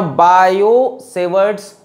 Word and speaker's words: Biot: थोड़ा बहुत इंट्रोडक्शन और बायो-सेवर्ट्स लॉ पढ़ाएंगे, ठीक है। बायोट लिखा होता है किताब में, टी लिखा होता है तो टी साइलेंट होता है। बायो-सेवर्ट्स लॉ पढ़ाएंगे जिससे हम